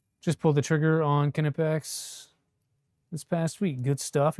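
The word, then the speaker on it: Knipex: Just learned this morning that the K is pronounced. It really is Kipex. Yeah, Kipex.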